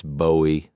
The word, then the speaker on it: Bowie: It's Bowie like the knife.